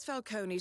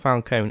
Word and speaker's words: Falcone: It's not Falcone, it's Falcone.